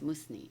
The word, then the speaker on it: Musni: Is it pronounced with the Z? Musni or Musni? More an S. More like an S. Musni.